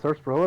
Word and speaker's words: sarsaparilla: Oh, are those full bottles of Sunset Sarsaparilla down there? Empty Oh. ones. Tragic. You know what? I went to Arizona and tried some sarsaparilla. Sarsaparilla? I think you just don't pronounce the R.